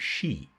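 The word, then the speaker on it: sídhe: Mounds that are called shei it's not spelled like that but it's pronounced like that okay and the greatest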